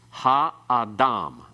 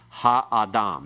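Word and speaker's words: הָאָדָם: Because we have 3 syllables, all with long vowels, then it's ha-adam. The ah part has no accent. The ha has a secondary accent. The major accent still at the end.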